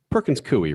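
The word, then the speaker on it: Perkins Coie: when you're at Perkins it's Perkins kooy right is that how you pronounce it um yes that was the last firm I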